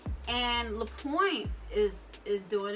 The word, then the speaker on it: LaPointe: Next up, we have pronounced lapointe, and lapointe is doing its thing this season.